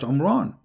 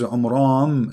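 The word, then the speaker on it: Amram: of Mary is not Umran. Secondly, he could not pronounce the name correctly of the father of Moses and Aaron because his name is Umram. So the last letter is M, not N.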